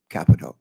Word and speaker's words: Capito: chairman Carper ranking member capito so thank you believe or not she pronounces it Capo Capo Capo yes Capo okay I'm sure your name